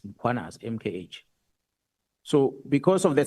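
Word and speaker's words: Mkhwanazi: them to pronounce muanaz, they will put an a after m. They'll say muanazi and there's no a. It's muanas.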